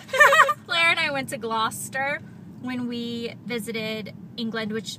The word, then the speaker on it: Gloucester: And my mom kept pronouncing it Gloucester because that's what it looks like it's spelled to an American. And she kept asking people for directions to Gloucester, and no one could figure out what she was trying to say.